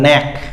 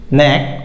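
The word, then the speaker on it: knack: আমরা দেখি যে কে এন এ শব্দের প্রথমে যেমন ন্যাক, ন্যাক অর্থ হলো দক্ষতা, কৌশল। তারপরে ন্যাফ, ন্যাফ অর্থ হলো হাতুড়ি দিয়ে ইট ভাঙা, এখানে কে অনুচ্চারিত এগুলোতে।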